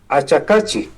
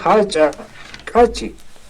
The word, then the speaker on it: Achacachi: Por ejemplo, no se dice Achacachi, todos dicen Achacachi, no. Se dice Hachacachi.